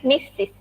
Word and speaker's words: Mrs: juga ada mistis rajanya Mrs itu dibacanya mistis nih sesuatunya Ibuku Anita